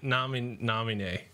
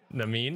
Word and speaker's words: Namine: Namine. That's not right. Yeah, that's good. Namine. That's good enough. That's Namine. No. It's like anime, but with an N before it.